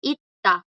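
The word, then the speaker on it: 있다: Habíamos visto antes, chicos, bueno, la pronunciación es ita. Ita. Suena como una D fuerte. Ita. Ita. El verbo tener. Es porque hay doble D.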